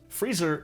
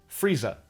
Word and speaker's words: freezer: Yeah, but the Cocknney dialect and most dialects of England are non-rotic, meaning that the R consonants are only pronounced before vowels. Friezer in North American English is Frieza in Cockney English. And Lisa rhymes with Frieza.